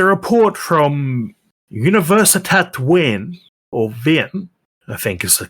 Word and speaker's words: Wien: Well, there's a report from Universitat Wien, or Wien, I think is the correct way to pronounce it, showing 10,000-year-old fireplaces from the Ice Age.